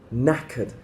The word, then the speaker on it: knackered: listen to that word knackered the K is silent nakid the next one